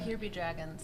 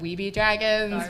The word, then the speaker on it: Here Be Dragons: and Kate Wurzbacher from I always get it wrong. I always say it wrong. Here Be Dragons. Here Be Dragons. I always want to say like We Be Dragons. Or Be Dragons.